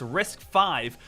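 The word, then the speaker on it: RISC-V: the Rival architecture is called riscv pronounced risk five risk stands for the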